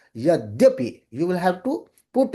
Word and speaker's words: Yadyapi: So you will have to say Yadyapi.